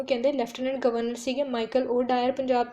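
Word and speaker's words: O'Dwyer: lieutenant governor सीगे Michael O डायर Punjab दे और एसपी सीगे सुपरिटेंडेंट ऑफ पुलिस सीगे पंजाब दे जनरल डायर दोन का जो नाम है वो डायर डायरी प्रोनाउंस हो है लेकिन स्पेलिंग अलग है जो लेफ्टनंट गन लेफ्टनंट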